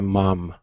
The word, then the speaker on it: mom: into something different okay it's an a ma mom now in in England okay